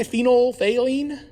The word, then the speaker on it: phenolphthalein: neutral it's water and phenolphthalein can you say phenolphthalein phenolphthalein right see can you spell it p-h-t-h-a-l-e-i-n so phenolphthalein is actually something it's